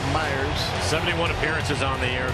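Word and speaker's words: Mayers: runner at second mike myers looks like mayors but he pronounces it myers 71 appearances on the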